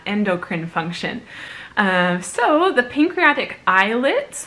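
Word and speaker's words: islets: function so the pancreatic eyelids that word is pronounced like eyelids pancreatic eyelids contain two types of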